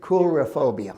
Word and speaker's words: coulrophobia: Coulrophobia. I looked it up. Cool is in K-O-L.